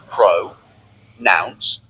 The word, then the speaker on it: pronouns: Say pro nouns, pro nouns. Together, pronouns. Can you try?